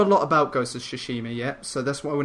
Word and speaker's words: Tsushima: The other one is Ghost of Tsushima. That's what it's pronounced. Yes. That's by Sucker Punch Studios, who made the Sly Cooper and Infamous series. Yes. We don't know a lot about Ghost of Tsushima yet, so that's why we're not really talking